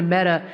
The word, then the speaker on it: meta: Facebook dead, because apparently the word meta is pronounced like the feminine form of the Hebrew word for dead.